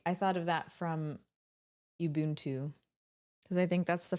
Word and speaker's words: Ubuntu: That's pronounced Ubuntu.